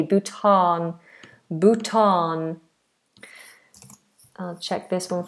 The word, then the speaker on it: Bhutan: Oh, Bhutan with a long a Bhutan.